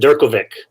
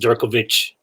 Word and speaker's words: Durkovic: name i pronounce it durkovic jerkle vic perfect yeah i don't think that's the original czech pronunciation but that's what we i think it's supposed to be pronounced djerkovich or something like that